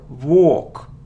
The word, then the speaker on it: walk: second syllable Museum museum it isn't Volk not it isn't work it's a long sound or or without L walk walk it isn't Maskull no